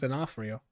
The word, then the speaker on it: D'Onofrio: But it's Vincent D'Onofrio. Oh, I Kingpin. think you got it first try. Yeah, Vincent D'Onofrio.